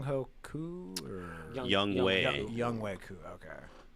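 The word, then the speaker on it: Younghoe Koo: Who I've learned I was saying his name wrong on Is that Sunday. Song Ho Koo or Young Wei. Young Wei Koo?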